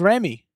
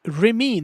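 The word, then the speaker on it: Rémy: So in Ratatouille, the rat is named Remy, not Remy.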